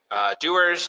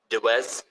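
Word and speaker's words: Dewar's: It's Dewars, Dewars, Dewez. No one says that. Dewez. No one says that. Dewars. I feel like that's the American way to say it.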